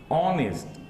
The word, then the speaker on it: honest: Here ace is not being pronounced. Okay, honest, not honest.